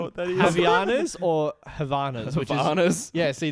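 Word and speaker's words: Havaianas: Havianas or Havanas?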